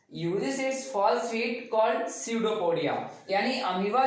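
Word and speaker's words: pseudopodia: हैं, that is called स्यूडोपोडिया। बट जब P silent है, दैट इज कॉल्ड स्यूडोपोडिया।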